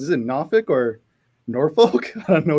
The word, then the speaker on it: Norfolk: okay I you know the way that it was taught to me was it you you you don't drink don't smoke nor or and then yeah yeah